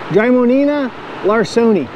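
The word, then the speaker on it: Drymonema larsoni: Their scientific name is kind of hard to pronounce, but it's Drymonina larsoni.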